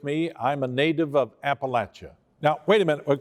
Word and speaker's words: Appalachia: can you say appalachian it's not appalachia it's appalachia and i guess that that's one of my my my concerns about people okay here's here's how you say it appalachia it's it's like okay i've got this piece of fruit right and i'm going to throw i'm going to throw an appalachia you get that raised